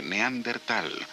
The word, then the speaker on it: neandertal: a su origen europeo el nombre se ha pronunciado de diferentes maneras en el tiempo sin embargo la pronunciación más aceptada hoy es la de neandertal sin la H